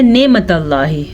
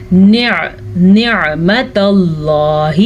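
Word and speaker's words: نعمة الله: اب اکثر لوگ پڑھتے ہیں نعمت اللہ تو یہ غلط ہے. عین کو واضح کر کے پڑھنا ہے. نعمت اللہ، میرے ساتھ ساتھ پڑھیں اور اپنے تلفظ کو ٹھیک کریں.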